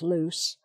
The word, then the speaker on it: loose: my neck so it's loose as an adjective it's pronounced loose with an s sound and then there is